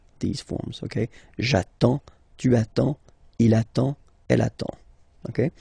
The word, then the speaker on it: attends: You get D and S. Well, basically you don't pronounce them. Okay? And then you get only the sound attends. Nasal here. En.